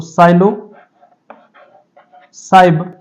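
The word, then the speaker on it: Psilocybe: यहां पे P silent रहता है तो साइलो साइब मेक्सिकाना इसकी स्पीशीज है क्योंकि मेक्सिको से रिलेटेड है यह।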